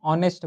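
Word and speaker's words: honest: जैसे कि हावर है तो हावर ना बोल के हम लोग उसको आवर बोलते हैं ना, सेम केस में यहाँ पे हम लोग ऑनेस्ट बोलते हैं। ऑनेस्ट मतलब ओ से इसका प्रोनाउंसिएशन हो रहा है, तो इस केस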